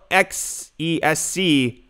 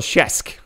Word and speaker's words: XESC: The real XESC, it's pronounced the real Shesk.